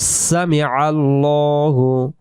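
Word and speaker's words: سمع الله: ল পরিবর্ত হবে এজন্য এই জায়গায় আমরা পড়ব সামি আল্লাহু সামি আল্লাহু লিমান লিমান লিমান হামিদাহ আমরা যদি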